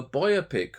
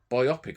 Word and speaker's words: biopic: Right now, we're going to go for a biopic or biopic. I don't know how you say it. I think either way is right, actually.